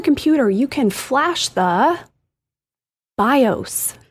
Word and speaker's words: BIOS: you can Flash the BIOS it is not the BIOS it's not the BIOS and it's I get it it's confusing it's all caps it's B ioos but that is bios now see that's now